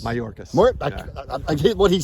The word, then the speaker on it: Mayorkas: How do you pronounce his name? Mariocas? Mayorkas.